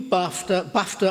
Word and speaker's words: Bafta: You, Bafta are a democratic... I said Bafta, which rhymes with Dafta.